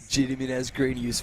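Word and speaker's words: Gediminas Grinius: Uh once again Martin help me with the pronunciation here. Uh Jiminas Grenius from Lithuania. Jediminius Grenius.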